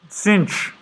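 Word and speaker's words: sinh: sign the hyperbolic sine function and it is pronounced cinch which sounds really stupid to me i don't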